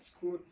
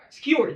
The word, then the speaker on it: skewer: And for the meat, I'm going to use I can never say this word. Squirt. Emma, how do you say it again? Skewer. Skewer.